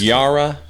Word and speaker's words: Yara: Yara. Kind of like Yahweh, which is unmentionable. But it's spelled like Sarah Hebrews. with a Y.